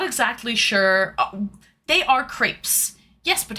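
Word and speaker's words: crêpe: They are crepes. Yes, but how do we pronounce it? Crepes or creps? It's a French word. It's a French word and the French pronounce it crepe.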